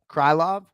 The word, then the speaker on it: Krylov: taylp well done so the pronunciation that i didn't know was krylov or krillov but it's nikita krylov someone got it for